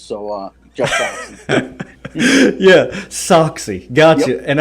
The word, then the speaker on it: Sachse: actually, actually, the last name is pronounced Sachse, and I had to teach my wife when we got married how to say my last name, and it's real simple. The socks go in the shoes, so Jeff Sachse.